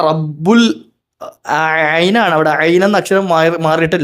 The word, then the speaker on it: رَبّ: നമ്മൾ മലയാളത്തിൽ പറയുന്ന റാ ഉണ്ടല്ലോ, യാ രാല ഭാഷ സഹാള റാ എന്നൊക്കെ പറയുന്ന ആ റാ അല്ല, മറിച്ച് അറബി ഭാഷയാകുമ്പോൾ ഒരു അല്പം ഘനം ഉള്ള അക്ഷരമാണ് റാ എന്നുള്ളത്.